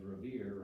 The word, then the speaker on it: Revere: revere for his poem because revere rhymes with fear which was one of